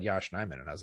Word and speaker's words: Yosh Nijman: I felt like his name kind of like people started to say it more regularly, like correctly, Yosh Nijman.